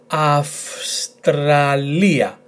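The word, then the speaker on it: Αυστραλία: The tone is in this letter, so altogether, Australia, Australia.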